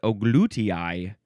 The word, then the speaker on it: gluteus: A few ways to pronounce the plural of gluteus. It's not gluteuses. You're not allowed to say gluteuses. You have to say glutii, glutii, or glutii.